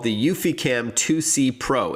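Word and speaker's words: eufyCam: to do that with the UfiCam, which is spelled EUFY cam.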